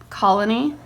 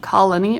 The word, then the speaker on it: colony: syllable kind of SK it's not overly pronounced it's kind of glided over and it's like some